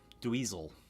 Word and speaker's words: Dweezil: Dweezil is the correct pronunciation.